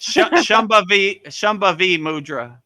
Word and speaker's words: Shambhavi Mudra: When I got initiated into Shambhava Maha Mudra, I had a wonderful, how do you say that, Vedagurudev? Shambhavi Mudra, right?